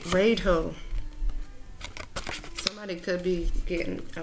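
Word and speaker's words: Raidho: I said Radho because that's literally how it's spelled, but it's Radho.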